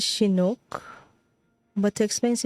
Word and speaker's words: Chinook: Pronounced as Chinook.